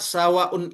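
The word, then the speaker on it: سَوَاءٌ: Maka cara membacanya dipanjangkan 4 sampai 5 harokat, bahkan 6 harokat.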